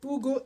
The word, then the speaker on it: Hugo: When they say Ugo in three months is I'm saying Ugo because that's the way you pronounce it. H is always silent in Spanish.